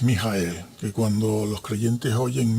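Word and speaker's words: מיכאל: Si vamos al hebreo y luego pronunciamos en nuestro idioma es Mijael, que cuando los creyentes oyen Mijael, uy, cuánto hebreo sabe.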